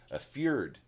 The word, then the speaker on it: fjord: It's spelled Fjord, so nobody would probably even attempt to pronounce it if they hadn't heard it before. It's fjord.